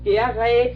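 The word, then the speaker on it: Gheeraerts: Marcus Gerrit, I think it's pronounced.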